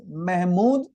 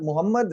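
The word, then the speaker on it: Mahmud: famous Invader in India his name was mhmood not Muhammad remember he was called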